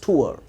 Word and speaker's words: tour: तो TOUR, most of people miss pronounce this word, इसे वो टूर बोलते हैं। The right pronunciation is टूर, TOUR, टूर।